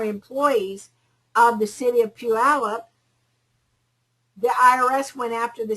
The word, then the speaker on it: Puyallup: Puyallup. How do you spell that? P-U-Y-A-L-L-U-P.